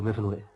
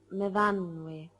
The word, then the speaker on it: Myfanwy: What do you do, Myfanwy? No, Myfanwy. We pronounce it Myfanwy.